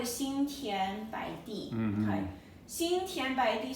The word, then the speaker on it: 心田白地: So if you just pronounce it properly, it goes Xin Xin Tian Tian Bo Ai Bai De Yi Di. Xin Tian Bai Di.